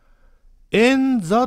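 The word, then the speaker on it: 燕座: これ字はですね、ツバメと書いて円と読むんですね。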